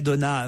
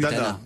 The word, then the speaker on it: Dana: Et puis le trio Jean-Pierre Mariel, Audrey Donna, Manu. Dana. Là, c'était mal J'ai dit prononcé.